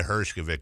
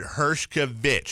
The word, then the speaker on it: Hershkovich: quote, because I said, is it Hershkovich? I even, phonetically spelled it out. It was, here's my response from him, Vic, V-I-C-K, not Vitch, V-I-T-C-H.